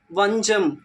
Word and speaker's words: வஞ்சம்: சொல் என்னன்னா வஞ்சம் வஞ்சம் இஞ்ச் அப்படின்ற மெய்யெழுத்துக்கு அடுத்து வர்ற சாவ வந்து நாம எப்படி உச்சரிக்கலாம் அப்படின்னா ஜா ஜா அப்படின்னு தான் உச்சரிக்கணும் எங்கெல்லாம் இஞ்ச் வருதோ அதுக்கு அடுத்து ச வந்தது அப்படின்னா நாம அதை ஜா அப்படின்னு தான் சொல்லணும் வஞ்சம் வஞ்சம் இப்போ சா